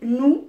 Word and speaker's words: nous: c'est tu, il, elle, nous, c'est-à-dire moi et les autres, ou bien nous et les autres. Nous, hein, c'est tout ensemble. Là, il y a S, mais qui ne se prononce pas.